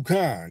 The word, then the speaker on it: Khan: So I'm too cool to con. Con like the C-O-N con, but I just spell it Khan.